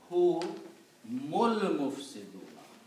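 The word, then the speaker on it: هم المفسدون: and this is al-mufsiduna, so you do not pronounce this alif in the middle, and you pronounce hu mul mufsiduna.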